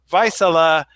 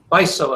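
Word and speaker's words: Vaisala: company I know the company but I always pronounce it slightly wrong because I always say vice Allah but Ron how do you say the name of your company it's my soul oh my soul it's a finish okay it's a Finnish company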